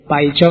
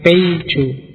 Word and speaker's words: Paijo: nama kita juga susah Oke Paijo mungkin mereka bacanya peijo jadi jadi gaya toh padahal